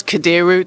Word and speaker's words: Kadiru: It's Kadiru. That's what I was worried about, mispronouncing your surname, Kadiru.